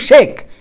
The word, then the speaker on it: শেখ: অর্থাৎ বিভিন্ন বানান লিখলেও উচ্চারণ হয় কিন্তু শেখ।